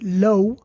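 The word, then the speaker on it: لَوْ: But when it comes to this lo, this is what we call a diphthong. Why is it called a diphthong? A diphthong basically is when we mix two vowels.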